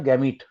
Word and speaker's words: gamete: Again it's a matter of pronouncing the टी और not pronouncing the टी। ज्यादातर T pronounce किया जाता है, most of the people pronounce T, बहुत लोग गैमी Sir, बोलते I'm हैं।